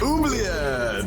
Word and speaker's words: oubliette: Oubliette!